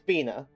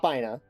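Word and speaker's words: Binah: One, official pronunciation. It's Bina, not Bina.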